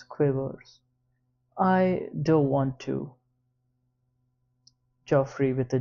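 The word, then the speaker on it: Geoffrey: It's Joffrey, but with a G, not a J. It's spelled G E O F F R E Y.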